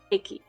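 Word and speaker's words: ケーキ: Keiki. Yeah. Just say cake funny, right? Kiki. Yeah, like say it like a drunk person.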